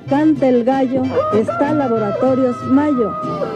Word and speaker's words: Mallo: Les saludan Amparo e Imelda, las jilguerillas, para decirles, aquí donde canta el gallo, está Laboratorios Mayo, y Mayo se escribe como gallo, L-L-O, Laboratorios Mayo.